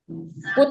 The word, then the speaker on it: put: I tapi dibacanya beda. Ini cut. Ini cut cut. Ini put. Iya. Jadi memang di bahasa Inggris itu enggak konsisten ya Bu ya cara membacanya. Kadang U itu kadang ada yang kebaca a, ada yang tetap dibaca U gitu ya.